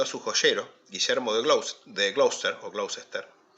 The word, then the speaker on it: Gloucester: Enrique III encomendó a su joyero, Guillermo de Gloucester, yo digo Gloucester para que ustedes sepan cómo se escribe en realidad, pero esto en inglés se pronuncia Gloucester, cuyo nombre aparece en el reverso de estas monedas como Willem on Lund.